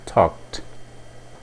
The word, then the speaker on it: talked: O passado seria I talked. Mais uma vez o verbo termina em K, então a pronúncia é T.